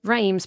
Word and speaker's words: Reims: No, remembering when you say something, spell it. When you say something, say it clearly. You didn't say as, you said Reims, because you know what?